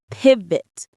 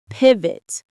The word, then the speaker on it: pivot: Pivot. Pivot. The stress is on the first syllable. Pivot.